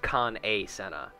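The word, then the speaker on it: Kan-E-Senna: her name is spelled Khan e Senna it's pronounced Khan a Senna I hate words well met and Welcome to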